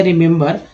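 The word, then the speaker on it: remember: ही vowel है ई, जिसमें पहला ई जो है दोस्तों छोटी ई के रूप में उच्चारण हुआ, दूसरा ई जो है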